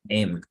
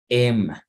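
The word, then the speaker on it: 'em: Them se puede pronunciar como M. So you get rid of the first two letters and you pronounce M.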